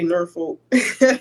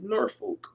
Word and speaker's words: Norfolk: is but can H how do you say it I say ner folk okay I I heard